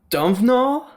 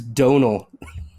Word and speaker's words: Domhnall: For whatever reason, the M and H is silent now.